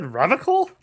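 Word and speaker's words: Revachol: feet he pronounces revon with a hard K unlike other people I love it when the game does that you said revical I like to pronounce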